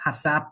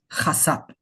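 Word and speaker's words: חשף: So if I was pronouncing the first thing, it is not hasap, it is chasap.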